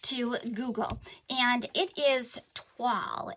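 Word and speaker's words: toile: So when in doubt, we went to Google, and it is Twaal. It's pronounced as if it were written T-W-A-L-L, and it is a French word that means linen, cloth, or canvas.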